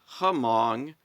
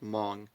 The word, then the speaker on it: Hmong: it, I discovered the Hmong language and I pronounced it Hmong because it's spelled Hmong. So I just assumed, how do you pronounce that? And it turns out it's just Hmong.